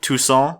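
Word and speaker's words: Toussaint: new region of uh tucon and you have to say it like a douchebag says croissant croissant eating croissant and Tuson which is it's great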